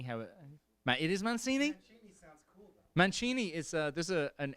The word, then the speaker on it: Mancini: it Matt it is Mancini man Cheney is there's an English soccer Italian soccer coach called them Roberto Mancini and that's how it's pronounced in Italy so I kind of